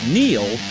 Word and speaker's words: Neil: It's no coincidence that Neil rhymes with deal.